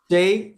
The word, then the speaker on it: Shai: to make sure I say his name right Shay okay I'm talking about Shai hey remember the